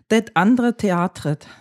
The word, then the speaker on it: Det Andre Teatret: With me is Nils Petter Mørland from the Norwegian group Det Andre Teatret. Perfect pronunciation.